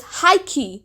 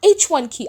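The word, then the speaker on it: H1-KEY: that the name of the group is high key not H1 key I've been pronouncing it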